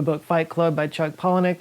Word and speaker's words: Palahniuk: That was a quote from the book Fight Club by Chuck Palahniuk. It's also in the movie. A nihilist quote from a nihilist work. And it's true. Pronounced Palahniuk.